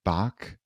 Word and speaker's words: Bach: And I think there's David Bach, I think is how you pronounce his last name, Yeah, had that's right.